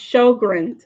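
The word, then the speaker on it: Sjögren's: Pronounced Sjogren's.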